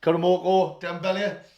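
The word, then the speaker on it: Karamoko Dembélé: they are, is, how the hell do you pronounce that? Karamoko Dembele.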